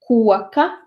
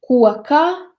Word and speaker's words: koka: For example, koka, it's made of wood, but koka, on the tree.